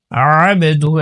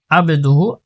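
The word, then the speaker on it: عَبْدُهُ: ওয়া আশহাদু আন্না মুহাম্মাদান আবদুহু ওয়া রাসূলুহু, ওয়া আশহাদু আন্না মুহাম্মাদান, মুহাম্মাদান হার উচ্চারণ করতে হবে, মুহাম্মাদান আবদুহু, আবদুহু এখানে আইন রয়েছে, এখানে আইন অনেকে আবদুহু, আবদুহু এরকম বলে, আবে আইন উচ্চারণ করতে হবে, মুহাম্মাদান হা উচ্চারণ করতে হবে, মুহাম্মাদান আবদুহু ওয়া রাসূলুহু।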